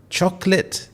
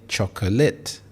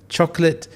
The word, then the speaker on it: chocolate: If you said chocolate, then you got it correct. There are 2 syllables and you don't say chocolate. Yes, I know it can be quite annoying, but chocolate is the best pronunciation to use.